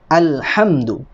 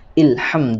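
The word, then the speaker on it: الحمد: dia pasti berupa zat Hah al-hamdu Jadi bukan Fulham 2 atau Ilham Hai baik berikutnya di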